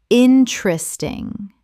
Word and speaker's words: interesting: different different Word eight interesting common mispronunciation interesting correct pronunciation interesting Three syllables in natural speech. The second e disappears entirely.